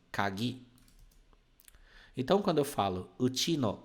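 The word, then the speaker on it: 鍵: kagi significa chave tá kagi ela é pronunciada assim ó kagi então quando eu falo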